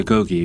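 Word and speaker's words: agoge: The very essence of Spartan education was the agogi pronounced ago.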